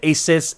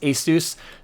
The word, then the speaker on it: ASUS: a lot of dis discussion about is it ASUS ASUS guys Asus pronounces it Asus so that's the why I'm